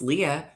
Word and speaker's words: Leah: might not remember that my name is pronounced Leah but when they see me again they're gonna be like ah Star Wars Leia and then Leah right you want to